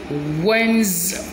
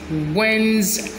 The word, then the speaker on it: Wednesday: tuesday in this word these two letters are silent so we pronounce it wednesday wednesday wednesday wednesday us first